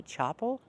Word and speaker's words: chapel: The word is pronounced chapel, not chapel. We cannot use the open ah sound like hot and stop. We have to use the ah sound like black cat.